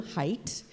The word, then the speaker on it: Haidt: chat let us know not only how to pronounce the man's name, Haidt, but also that she had heard a podcast in which he had spoken, and she shared that experience with us.